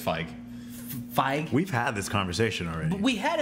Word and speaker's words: Feig: Feige.